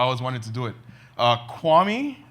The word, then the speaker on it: Kiwami: wanted to do it Kwame is how it's pronounced kiawah me is like how it's spelled out on a recent trip